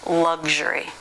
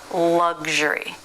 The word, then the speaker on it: luxury: this is also different it's just like sexual only it's voice so it's G and then luxury luxury I couldn't come up